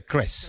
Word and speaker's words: Kreß: Pero se pronuncia Kreß. Alemana, que es como una doble S.